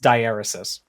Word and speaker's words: diaeresis: First of all, apparently the word is pronounced diaeresis.